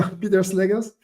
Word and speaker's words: Pieter Slegers: So it's Pieter Slegers. Do I pronounce that well? Because my mother is actually Flemish. Good. So You did good. Yeah, so Pieter Slegers.